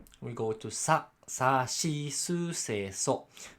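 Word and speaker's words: し: Sa, shi, su, se, so. Pay attention that we have this sa, not si, but shi.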